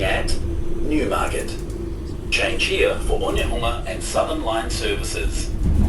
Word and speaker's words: Onehunga: Change here for Onehunga and Southern Line services. Onemua, that's how you say it.